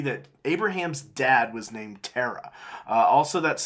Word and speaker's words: Terah: If you'll look in Genesis 11, verse 26, we see that Abraham's dad was named Terah. Also, that's spelled Tarak in Chronicles, or I guess technically it's Hebrew, so I should say Tarak, I suppose.